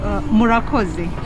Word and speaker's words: Murakoze: Murakoze. Murakoze.